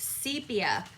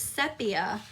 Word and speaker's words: sepia: Okay, now I'm gonna say it right, sepia. I always thought it was sepia. So thank you for letting me know which way to say it, sepia.